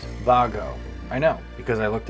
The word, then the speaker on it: WAGO: sometimes pronounced wo or Wago the name of this company is actually pronounced Vago I know because I